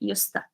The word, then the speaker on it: used to: and the linking sound, the pronunciation, yusta. Because used to, we write it separately, but when we say it actually together.